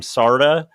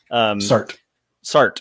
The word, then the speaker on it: Sartre: It's there's one of the classic existentialists, and I always mispronounce his name, Sartre. Sartre. Okay. This is Sartre.